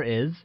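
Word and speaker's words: 爱: or love translates as I which is pronounced using a falling tone like I good to learn or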